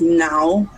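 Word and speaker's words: não: The word for no is now, N-A-O.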